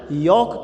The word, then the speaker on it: yolk: ठीक है, उस जर्दी को हम इंग्लिश में योग कहते हैं। उसका मीनिंग, इसकी स्पेलिंग है YOLK। तो यहाँ पर हमें एक होमोफोन्स वर्ड मिला, इसको ध्यान देंगे।